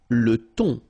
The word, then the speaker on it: thon: Le thon. Remember, H here is not pronounced.